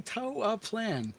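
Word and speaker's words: Toaplan: Toa Plan.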